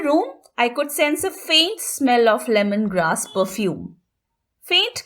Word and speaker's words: feint: Next pair is also an important one, faint versus faint. These words are homophones, meaning they are pronounced in exactly the same way.